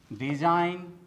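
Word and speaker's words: design: नोम नोम नार्ड नार्ड तो दोस्तों आपको भी साइलेंट लेटर जी से बने शब्दों का प्रोनंसिएशन इसी प्रकार से करना चाहिए दोस्तों अब आते हैं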